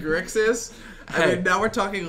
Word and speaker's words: Grixis: This guy's trouble saying Grixis. I mean, now we're talking like Thyrix6. I can pronounce Grixis correctly. Okay, no, I got I just choose to pronounce it Grissix.